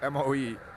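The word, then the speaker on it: Moe: Premier Boe, which is how it's pronounced in Norwegian, Mo, M-O-E, Mo.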